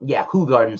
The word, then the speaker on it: Hoegaarden: blindly to Belgium's own Hoegaarden, or Hoegaarden's how it's pronounced, I think you would have a hard time differentiating which one is which.